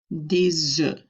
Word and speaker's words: des œufs: Des œufs, we do the liaison, so you can hear that S carrying over to the O and it sounds like a Z, but we are not pronouncing the F at the end of that word anymore.